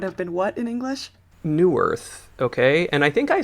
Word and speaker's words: Neuwirth: As far as her origin story, Conchita Wurst is known as Thomas Neuwirth. Excellent pronunciation. Kind of looks like Neuwirth.